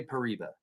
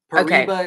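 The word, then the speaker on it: Paraíba: If you cannot roll your Rs to say, if you can't say, then you can say Pereia. Pereia is kind of like the it's the short way to say it, you know.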